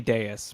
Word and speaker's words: Deus: funnier if it's Davis it's definitely Deus but it's funnier if it's Deuce Finance deuce deuce Finance hacked someone threw up the deuce on Deus oh only three million